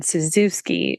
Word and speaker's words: Cizewski: So my former name is Suzuki, which everyone's really excited. They don't spell that. It's Cizewski.